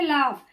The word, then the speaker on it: laugh: जैसे लाफ, LAUGH, ठीक, तो LAUGH यहाँ पे हमारा जी एच क्यों साइलेंट है? क्योंकि जब कोई वावेल के पहले, अगर हमारे किसी भी वावेल के पहले जी एच आता है तो वो हमेशा साइलेंट होता है।